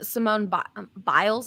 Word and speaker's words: Simone Biles: i think it's gotta be gretzky yeah um simone biles is that how you say her name yeah